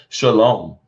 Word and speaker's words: shalom: Shalom.